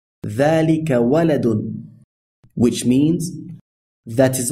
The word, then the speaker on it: ذَلِكَ: Although ذَلِكَ is written like this, it is pronounced as though it were written like this. So we say ذَلِكَ. It would be incorrect to say ذَلِكَ, and sometimes you will